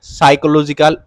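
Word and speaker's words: psychological: mental state feelings and সাইকোলজিক্যাল ওয়েলবিংস শিক্ষার্থীরা এটির উচ্চারণ কিন্তু সাইকো লজিক্যাল এখানের যে পি আছে পিটা উচ্চারণ হবে না এটাকে সাইকোলজিক্যাল পড়বা ঠিক আছে এখানের পিটা সাইলেন্ট থাকবে এই শব্দের তো এটার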